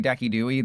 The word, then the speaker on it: Decidueye: That is That is legitimately the correct pronunciation of Kyurem. I am not I'm not trolling like when I say Decidueye, that is literally how you're supposed to say it.